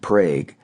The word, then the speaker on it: Prague: At another festival in the town of Prague, pronounced that way, the Czechs bake the